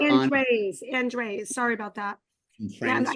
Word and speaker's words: Andres: And do I say it right? Andes? Andes? There's an R in there. It's Andres or Andres.